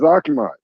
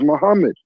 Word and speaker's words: Muhammad: Muhammad's name is not properly pronounced as Akmad. Muhammad's name is properly pronounced as Muhammad.